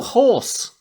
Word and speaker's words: hoarse: Yeah, Oh, horse!